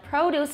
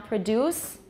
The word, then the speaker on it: produce: The second syllable, like produce is the noun, produce is the verb.